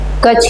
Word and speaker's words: Kutch: In Kutch, KUCHCHH, कच्छ की spelling ये होती है KUCHCHH, कच्छ।